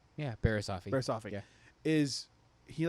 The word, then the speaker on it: Barriss Offee: Yeah, Barriss Offee.